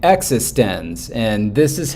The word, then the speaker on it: eXistenZ: Literally, the first shot of the movie is a chalkboard and somebody writing, it like that and saying existence, and this is how it's pronounced.